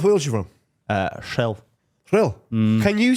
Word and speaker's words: Rhyl: How do you say it? He did it. Rhyl. Rhyl. Rhyl. I can do it as well. Rhyl. No, you're saying shril.